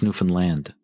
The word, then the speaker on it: Newfoundland: too, cuz they're Let me tell you, it's Newfoundland. That's how you say it. Thank you. Yeah. Newfoundland.